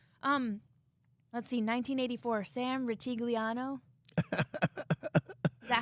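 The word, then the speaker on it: Rutigliano: a coaching change um let's see 1984 Sam rigliano is that how you say it yes yes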